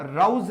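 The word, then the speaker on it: rose: बच्चों रोज का मतलब गुलाब होता है, एक्चुअली इसको रोज नहीं बोला जाता। जो लोग रोज रोज बोलते हैं, रोज नहीं होगा, राउज इसका प्रोनाउंसिएशन होगा, ओ को औ बोलेंगे।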